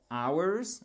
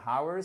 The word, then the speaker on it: hours: tard continuer plus tardention si on ne prononce pas le H c'est ours ok apparemment il est pas content ours ok donc c'est pas hours faites bien attention we